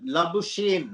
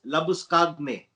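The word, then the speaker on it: Labuschagne: when you know that la busheen as people call him but his little way of pronouncing the name let us get it right is manus labus kagne from south africa he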